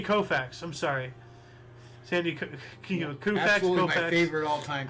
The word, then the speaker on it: Koufax: in four years okay you have to pronounce it right Sandy Kofa Sandy Koufax I'm sorry my favorite